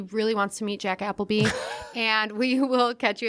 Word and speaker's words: Appleby: It's pronounced Appleby, but I'm Jack Appleby across most of the platforms.